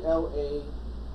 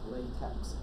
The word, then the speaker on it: LaTeX: in a long time it's technically la but not events is l8 how epsilon hi so it's not pronounced latex it is for them as long time those letters that so happens to look like TV eggs but it's not TX its top has a long time and